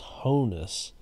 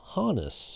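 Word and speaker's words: Honus: for the longest time throughout my life i mispronounced his first name as hohness but i heard other people call him hanus and i looked it up on baseball reference and the phonetic spelling says it's honest so i apologize to hannes for mispronouncing his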